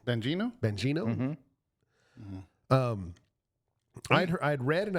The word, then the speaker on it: Bongino: How do you pronounce his last name? Bongino.